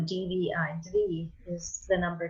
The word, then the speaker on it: Dvi: Dvi is the number 2. So and it's pronounced Dvi. Dvi, yeah, with the I, right? Because I is always E.